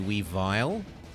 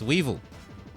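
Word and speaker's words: Weavile: want it to be we vile it's weevil it rhymes with evil goca it's dark type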